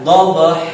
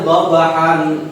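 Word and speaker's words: ضبحا: Setiap huruf akhir lafaz yang berfathah tanwin ketika diwakafkan, ketika dibaca wakaf, maka si tanwinnya hilang. Tanwin hilang, huruf dibaca panjang. Bagaimana cara bacanya? Dhabha.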